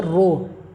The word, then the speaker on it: rho: Proportionality का sign हटाइएगा तो एक कांस्टेंट लग जाएगा, इसको बोलेंगे रो, और स्पेलिंग हो जाता है रो का RHO, रो। इसको बोलते हैं रेसिस्टिविटी, या इसी को बोला जाता है स्पेसिफिक रेसिस्टेंस।